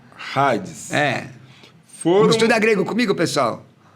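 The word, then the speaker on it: ᾍδης: Não é Hades, Hades. Hades. É alfa, aspiração áspera. Hades.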